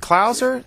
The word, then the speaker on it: Clauser: And also Anthony is it Klauser? C-L-A, am I pronouncing that right, Klauser? Yeah, that's right.